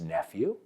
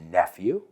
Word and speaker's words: nephew: All right, cuidado porque he oído gente decir nephew. No es nephew, es nephew.